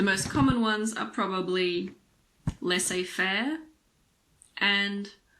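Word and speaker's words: laissez-faire: the letter Zed again there aren't that many words in English with a silent Z the most common ones are probably l a fair and rendevu L a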